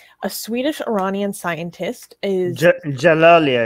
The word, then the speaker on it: Djalali: swedish iranian scientist is jalali i think i think that he is the d is silent thank you um is